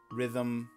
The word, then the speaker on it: rhythm: Treble, silent E, rhythm, silent H kind of um note Okay.